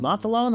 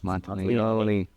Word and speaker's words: Monteleone: He's like, is it Monteleone? I'm like, no, it's Monteleone.